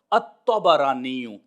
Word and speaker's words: الطبرانی: بتایا ہے وہ ہے تا، با اور را کے اوپر زبر، الطبرانی، یہ اصل میں تلفظ ہے۔ بعض احباب اس کو طبرانی پڑھتے ہیں، یہ درست نہیں ہے، یہ طبرانی نہیں ہے اور نہ ہی طبرانی ہے، بلکہ تینوں کے اوپر فتح ہوگا، الطبرانی۔ اب یہ جو نسبت